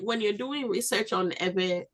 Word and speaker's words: Ewe: if you use ewe they gave us that name ewe because they couldn't pronounce v so they they you know substituted the B with a W and so we are